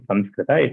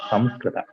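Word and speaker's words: संस्कृत: It's not Sanskrita, it's Samskrita. Anyway, the third pronunciation which you told, there also, it is not Kunkuma Nga.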